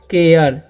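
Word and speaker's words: care: क्या लिखा हुआ है सी ए आर तो इस हम कार नहीं पढ़ेंगे इसे हम पढ़ेंगे केयर ठीक है क्या पढ़ेंगे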